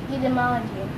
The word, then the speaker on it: etymology: Etymology. Okay. Potato, potato, tomato, tomato. Etymology, but you never said etymology. You normally say etymology. Etymology. Okay. And the T is pronounced as a D.